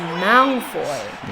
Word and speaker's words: Malfoy: or both the first and the second audiobooks, Stephen Fry pronounces Malfoy as Malfoy, and then emphasises that, and then later Pardon me, he Noni. reverts to the pronunciation that most people are familiar with, which is Malfoy.